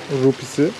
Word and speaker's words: rupiah: Her bir kişi için 80 bin Endonezya rupisi. Rupiah diye yazılıyor, rupi diye okunuyor galiba.